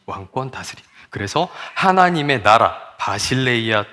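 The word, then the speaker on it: Basileia: 헬라어로 하나님의 나라 하면은요 저렇게 생긴 글씨가 나오고요 바실레이아 투 태우라고 읽습니다 그런데이 나라는 우리가 흔히 생각하는 요런 나라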